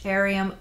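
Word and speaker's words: Aureum: good design pieces and the Brand's name is Arium Collective it's spelled Au r e u m Collective they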